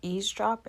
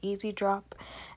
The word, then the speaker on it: eavesdrop: In this essay, I will mispronounce eavesdrop and say easy drop, and instead of calling it bright fix, I will say blurring.